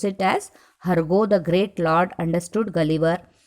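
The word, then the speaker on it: Hurgo: You have to pronounce it as Hargo the great lord understood Gulliver very well.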